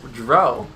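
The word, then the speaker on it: Drow: Dro? That's how they're actually pronounced apparently according to this game.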